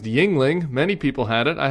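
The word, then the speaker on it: Yuengling: thought you guys needed to be introduced to yangling yeah yangling beer yangling yangling well if if McCormack was actually from Pennsylvania uh he would he would have known that uh that this beer is pronounced Yingling many people had it I had it a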